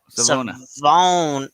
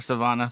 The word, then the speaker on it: Savona: Mike Savona. Savona. Yeah, or Savannah.